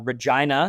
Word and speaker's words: Regina: moment sitting at a traffic light in downtown Regina, Saskatchewan. And yes, that's pronounced correctly.